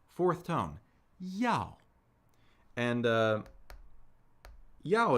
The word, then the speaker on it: Yao: tone ya and uh Yao is interesting right in pinion it's spelled y a o we start with the semic consonant initial Y yyy and then we have what's known as a dip thong right we have the